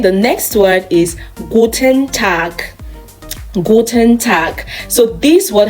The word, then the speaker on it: Tag: The pronunciation of G in this word is K, Tag. You don't say tag, it is Tag, good.